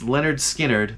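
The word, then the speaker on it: Lynyrd Skynyrd: was off the album pronounced Leonard Skynyrd That was released in 1973.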